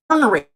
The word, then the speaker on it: ornery: should be yes but it's really orary o r n e y or however orary is spelled Alexa how do you spell orary or is spell o r n e r y I got it right o r n e r y orary but we don't say